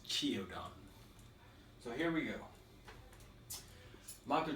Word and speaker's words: Qiaodan: It actually looks like Qiaodan, but it's pronounced as Qiaodan.